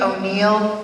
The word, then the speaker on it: Oneail: It's spelled kind of funny. O'Neal. There's no apostrophe. It's O N E A I L.